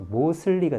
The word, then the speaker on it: mostly: 뭐 대부분의 이란 뜻을 가진 여기다 ly를 붙이면 이게 most하고 STL이 겹치면 또 T를 발음 안 하는 게 있어요. 그래서 mostly가 됩니다. 여기 T가 있지만 발음 거의 안 합니다.